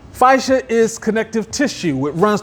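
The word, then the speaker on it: fascia: It's spelled f a c s i a. Fishia is connective tissue.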